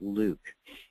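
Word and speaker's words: LIWC: count l iwc and we pronounce that luke in the lib computer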